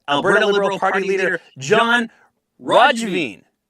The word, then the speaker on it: Roggeveen: Liberal Party leader John Roggeveen. Roggeveen. Yeah, the second one was a little He gave me closer both pronunciations. yeah. So it's those hard G's.